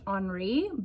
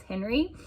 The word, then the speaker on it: Henri: It is actually pronounced in French Henri, but I was really curious if any other countries would spell the name Henri that way but pronounce it as Henry.